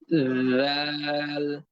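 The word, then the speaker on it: ذ: লাগিয়ে দেন লাগিয়েছেন এবার জিহ্বার আগা সামনের উপরে দুই দাঁতের আগার সঙ্গে লাগিয়ে ধরে রাখেন খবরদার ছেড়ে দিবেন না যুক্ত অবস্থায় রাখেন মিলিত অবস্থায় রাখেন যুক্ত অবস্থায় থাকাকালীন এরকম আওয়াজ করেন এরকম একটা আওয়াজ হবে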